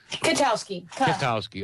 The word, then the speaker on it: Kwiatkowski: Is that how you pronounce it? Kwiatkowski? Kwiatkowski, okay.